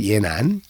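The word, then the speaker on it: 延安: 연안이 지금 우리가 그 여름에 답사를 할 그 중국 발음으로 예난.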